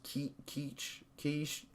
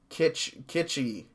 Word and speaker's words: kitschy: Quiche, not quiche, kitschy. There we go.